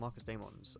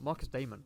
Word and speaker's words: Marcus Damon: It's a Searcher, such as Greymons and Marcus Daemons, and it demands. What the fuck did I say it like that? Marcus Damon, like Matt Damon.